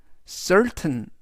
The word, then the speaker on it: certain: 되겠습니다 이번에는 t 인데요 이때는 발음이 테인이 아니라 우리말로 튼 그래서 이번 단어에서 t는 우리말로 튼 즉 전체적인 의미는 certain certain certain이라고 발음하시면 되겠습니다 품사는 형용사 뜻은 확실한이라는 뜻이